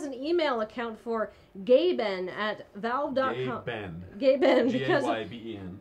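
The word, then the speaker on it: Gaben: Gayben. Gayben. G-A-Y-B-E-N. Because of how Gabe Newell pronounces his address. Which is Gabe N.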